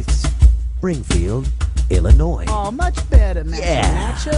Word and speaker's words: Illinois: It ends with an S, but don't say it, boy, when mentioning Springfield, Illinois. Oh, that's a silent man. Oh, man. I'm sorry. I meant to say Springfield, Illinois.